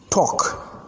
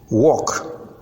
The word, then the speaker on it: talk: sounded o as n Talk walk and stock remember L is silent in this case and a w as